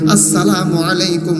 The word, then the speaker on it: আসসালামু আলাইকুম: অনেকে কিন্তু বলে খেয়াল করে দেখবেন চাম আলাইকুম লাম আলাইকুম হালাইকুম এইটা কোনদিন মুসলমানের সালাম নয়। সালাম হবে উচ্চারণ শুদ্ধ করে বলতে হইবে। আসসালামু আলাইকুম ওয়াারাহমাতুল্লাহ।